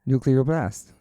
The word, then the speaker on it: Nuclear Blast: Nuclear blast.